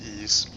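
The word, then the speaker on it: Ys: seven e seven not not real sure how to how to pronounce that but i think it's pronounced ease for the psp that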